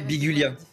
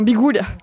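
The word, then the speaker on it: Biguglia: Bah pour moi par logique le premier G se prononce mais pas le deuxè donc je dirais Bigulia. Bigulia dans Bigouia.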